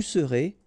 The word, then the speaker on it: serez: Je serai, tu seras, final S not pronounced, il sera, elle sera, nous serons, final S not pronounced, vous serez, a Z at the end, et serez, ils seront, final T not pronounced, elles seront.